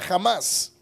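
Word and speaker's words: Hamas: como una organización terrorista jamás eh lo pronuncian así pero se escribe con h lo que sucede con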